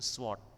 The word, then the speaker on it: sword: bilang apa bacanya ini bukan sword hilangkan wajahnya Ayo kita baca sama-sama yuk bukan sword tapi short ya kayak pendek tapi ujungnya